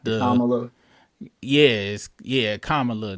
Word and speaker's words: Kamala: all right uh oh so it's K like coming uh like Allah so Kamala Kamala so yeah it is